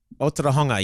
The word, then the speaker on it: Otorohanga: Apparently you were in Otorohanga in a cafe. Is that how you pronounce it? Otura. Otorohanga, yeah.